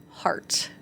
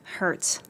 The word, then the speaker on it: heart: Cuz that H sound is hard for native French speakers.